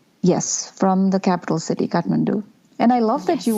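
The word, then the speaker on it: Kathmandu: pronounce it so well I've heard a lot of different versions of Katmandu they're like cat or you know some weird version but yeah your yours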